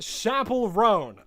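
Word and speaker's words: Chappell Roan: It's pronounced Chapel Roan.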